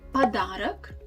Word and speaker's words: подарок: Also, you can see the tendency that the o that's actually at the end of the word in nominative case, we don't really pronounce it like wide o.